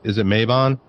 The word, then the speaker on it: Mabon: And is it Mabon? Yeah. I got that right. Well, that's two. All right. Doing good. Mabon, Litha, Lunasa.